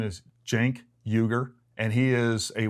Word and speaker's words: Cenk: It's spelled C-E-N-K, but the C in Turkish is pronounced like a J, like Cenk, like short for Jenkins, okay?